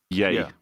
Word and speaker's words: Ye: apparently he's now legally changed his name to just y yay pronounce yay yay yeah what the [